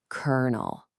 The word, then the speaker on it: colonel: It's pronounced colonel. I know. Where did that R come from? There is no R in the spelling, but there it is.